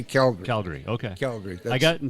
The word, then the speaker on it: Calgary: for saying Calgary yeah they probably don't like the emphasis on the syllables right they just slurred into one they're like it's Calgary and I'm like I'm